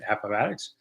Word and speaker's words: Appomattox: money where you go could I please correctly pronounce Appomattox that's the way I think it's said Appomattox uh anyway but thanks